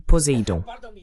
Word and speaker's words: Poséidon: Pardonnez-moi, oui, vous le prononcez correctement. Il s'appelle Poséidon.